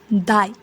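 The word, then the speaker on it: दाइ: For older brother, we can say dai. Somehow, pronunciation is similar to D-I-E, die, but gently pronounce it, dai.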